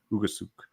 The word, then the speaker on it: Ugasuk: How do you say that? Did you guys get it last night? That one's correct. Ugasuk. Out of Finland.